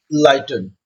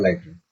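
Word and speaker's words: Lytton: Bye Lord लाइटन। Spelling देख लीजिएगा, LYTT1। ठीक है, लॉर्ड लाइटन।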